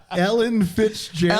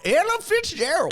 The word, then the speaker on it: Ella Fitzgerald: Ellen Fitzgerald. Ellen? No, I said it right. Ella Fitzgerald.